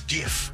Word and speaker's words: GIF: Look, Optimus, everyone knows it's pronounced GIF. It's like a peanut butter brand, all right? With all due respect, the creator of the format says it's GIF with a hard G.